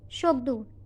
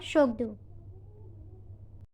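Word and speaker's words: Tshogdu: And the parliament's name is Shokdu. T is silent here. It is called Shokdu.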